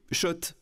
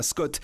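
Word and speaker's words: Schott: Oui, Shot. Et pas Scott, ça fait des années qu'on prononce mal la marque.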